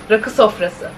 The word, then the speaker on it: rakı sofrası: Rakı sofrası.